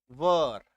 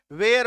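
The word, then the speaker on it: were: Next, वर, वर को लेकर मैं आपको बता दूं, दैट इज कि इसका उच्चारण होगा वर, ऐसा, ठीक है। वेयर मत बोलना, ठीक है, ब्लंडर हो जाएगा, ब्लंडर मतलब गलत उच्चारण है, ठीक है।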